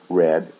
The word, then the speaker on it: read: and the past participle we also change the sound read red red but for some reason the spelling is not changed so it looks the same but in the past and the past participle the sound is different so it sounds like the color red so again in the